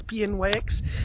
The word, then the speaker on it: Pnyx: Pnyx, I don't know how to pronounce it. It's Pnyx.